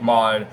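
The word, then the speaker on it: Maude: Takeover, which is Big Mod, which is it's not spelled M-O-D, it's spelled M-A-U-D-E, so it's spelled Big Mod instead of just M-O-D.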